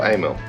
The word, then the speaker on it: Amal: Amal is it Amal AML how do you pronounce it in English Amil Amil yeah see I knew I was saying it right you guys in the comments don't know what you're talk about so Amil carburetor mono block yeah never never assembled one